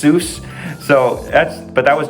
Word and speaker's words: Seuss: but then in American it's it's pronounced Seuss.